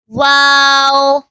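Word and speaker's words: واو: to pronounce this is wow kindly read after me wow wow comes from the lips like round circle to pronounce wow wow this is kindly read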